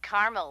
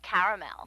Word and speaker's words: caramel: like it in Carmel actually you said Carmel when it's pronounced caramel can't we just call